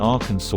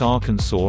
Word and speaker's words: Arkansas: investigating to do the pronunciations of Kansas and Arkansas are not at all similar I'm so I